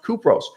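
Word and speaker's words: Κύπρος: of turkey called cyprus in greek pronounced kupros have you thought about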